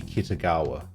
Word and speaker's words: Kitagawa: I still feel like the pronunciation should be Kitagawa. I feel like the emphasis should be on the second A.